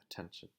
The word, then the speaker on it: attention: the T is still strong because the word's stress falls on the second syllable. It's attention.